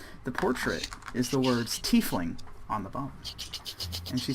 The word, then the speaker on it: tiefling: And underneath the portrait is the words tiefling on the bottom. And she says... What is Oh, this? that's how you pronounce it? Yes, tiefling.